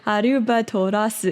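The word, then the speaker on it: アルバトロス: So I never thought, like, with the pronunciation, Arubatorasu, it's like 6 syllables in Japanese, but albatross is only 3 in English.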